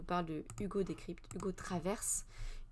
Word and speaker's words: Travers: On va aller voir cet article du Monde qui nous parle de Hugo Décrypte, Hugo Traverse. Il faut prononcer le R, nous dit-il.